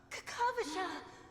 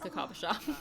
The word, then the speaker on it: Kakavasha: Kakavasha. Okay, and I was I was putting the emphasis on the wrong part. I was saying Kakavasha but it's like yeah Kakavasha. Where did you go?